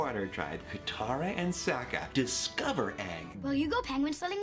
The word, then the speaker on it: Aang: It's Aang, not Ong.